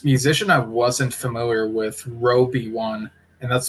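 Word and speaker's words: RobeOne: But October 9th, I was able to watch the stream for this musician I wasn't familiar with, Roby One. And that's spelled R O B E O N E.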